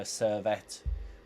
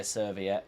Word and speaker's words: Servette: He's played once for Servette, which I wanted to say Serviette because that's how it looks like it's spelt.